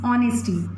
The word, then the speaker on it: honesty: H is silent over here, that is honesty, not honesty, that is honesty.